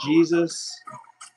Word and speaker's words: Gzuz: His name is GZUZ, pronounced Jesus.